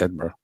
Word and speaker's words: Edinburgh: Worsh they want to say the shingberg and you go like no, it's Edinburgh.